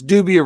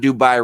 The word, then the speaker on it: dubia: somebody about nubia roaches it's dubia roaches not dubai roaches they're not from dubai india they're dubia roaches they're goddamn cockroaches it's